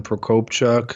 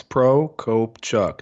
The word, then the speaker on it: Prokopchuk: digital marketing agency my full name is Procope Chuck the last name is a little intimidating but you say how it's pronounced so anywhere in social I work directly